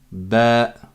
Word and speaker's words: ب: sur la prononciation là c'est comme un B en français sauf qu'on dit ba la lettre elle s'appelle